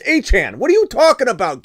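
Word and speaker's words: Achane: I call him Saul now you're telling me anan's name is aan he came out and and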